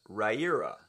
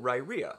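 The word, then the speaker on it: Riyria: So the first, the big elephant in the room, is Raira. Pronounced as in rye, as in the grass, ear, as in the body part, and that's how you pronounce Raira.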